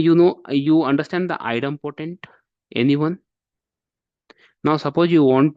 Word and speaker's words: idempotent: So those kind of things, that is the reason we used to call Ansible is the idempotent.